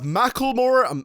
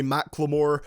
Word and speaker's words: Macklemore: number nine we have Macklemore I'm never gonna say McLemore even though that is probably how you say it correctly with marmalade featuring lil